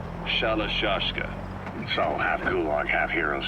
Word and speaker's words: Shalashka: Someone must have known about that because somewhere along the line, Shashka got stuck on the end of Sherashka. The gorillas were using the name amongst themselves. By the time I got to hearing about it, pronunciation had wound up as Shalashka.